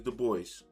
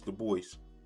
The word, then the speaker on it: Du Bois: Du Bois, and it is Du Bois. I know some of y'all going to be trying to correct me. It's Du Bois.